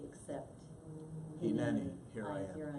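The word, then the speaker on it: הנני: So, and you'll have to, the pronunciation of Hineni. Hineni, Yeah.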